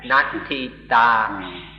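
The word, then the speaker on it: natthitā: So, once again, there's the word natita, which means the state of nothingness, or the state of nothing. There isn't anything. Nothing at all. This is natita. I was mispronouncing it. Natita. Completely different than sunyata, voidness.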